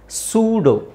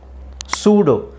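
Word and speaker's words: pseudo: ಸ್ವಲ್ಪ ನೀವು ಉಚ್ಚಾರಣೆ ನೋಡಬೇಕು ಪಿ ಇದೆ ಪಿ ಸೈಲೆಂಟ್ ಮಾಡಬೇಕು ಇದು ಇಲ್ಲಿ ಒಂದು ಲೆಕ್ಕದಲ್ಲಿ ಯು ನು ಇ ನು ಸೈಲೆಂಟ್ ಆಗಿರುತ್ತೆ ಸೂಡೋ ಸೂಡೋ ಪಿ ಸೈಲೆಂಟ್ ಮಾಡಬೇಕು ಈ ಸೈಲೆಂಟ್ ಮಾಡಬೇಕು ಸೂಡೋ ನಿಮಗೆ ಈ ಪದ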